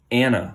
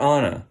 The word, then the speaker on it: Anna: this is Richard and this is Anna or onna depending on how you would like to pronounce it so they're having a